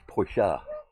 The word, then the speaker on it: Porsche: all about that one ash actually pronounce Porsche yeah but we we pronounced it porch all our lives oh yeah yeah